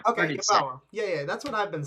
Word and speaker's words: Yeboah: I'm pretty sure I think it's pronounced Yeboah. That's what I've been saying. Okay, Yeboah.